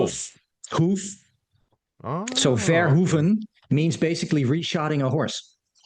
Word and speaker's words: Verhoeven: Verhoeven. Verhoeven. Okay, that's better. I like Yeah, that. Paul yeah. Verhoeven. Verhoeven actually means something. Oh. Verhoeven means reshotting, like horses. Een Oh. hoof, hoof. So Oh, okay. Verhoeven means basically reshotting a horse.